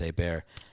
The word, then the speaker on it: Hebert: They would call it Herbert because they can't pronounce the French. They would call it, well, unless they're from there, and then they'd know it's a bear.